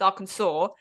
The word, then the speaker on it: Arkansas: And God forbid you pronounce that wrong because it's not spelled Arkansas. It's spelled Arkansas. Arkansas. Arkansas. A Kansas. Arkansas. It's Arkansas.